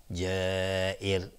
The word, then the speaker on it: جائر: و را در اینجا وقتی که ما توقف کردیم، را ترقیق میشه، یعنی نازک تلفظ میشه، چون را را ساکن کردیم و قبلش کسره هست. پس اینجا را ترقیق میشیم جائر.